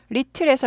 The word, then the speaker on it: little: little에서 이거는 발음 기호라 그랬어요. little에서 little 하다가 little까지 약하죠.